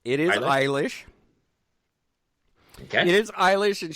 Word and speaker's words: Eilish: How do you pronounce her last name? It is Eilish.